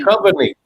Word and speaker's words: Duchovny: Duchovny.